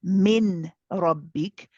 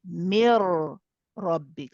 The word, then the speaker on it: من ربك: So instead of saying, so we don't say min rabbik, we will say mir rabbik.